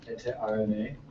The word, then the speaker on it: EteRNA: I basically realized that like EteRNA with a capital RNA, everyone pronounces it EteRNA.